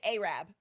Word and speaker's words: Arab: It's just like we have a town called Arab, spelled Arab, but you say Arab.